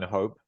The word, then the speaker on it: hope: but it is okay there's only one syllable in Hope yeah so it's only syllable but you're right the problem could be with the uh the vowel sound the E is silent okay when the E